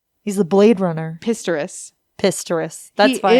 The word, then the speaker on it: Oscar Pistorius: Oscar Pistorius. He's the Blade Runner. Pistorius.